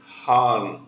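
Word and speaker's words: Khan: such a way that the word KH came as Han h a a n not k h a n which is the actual spelling of that word when you say Han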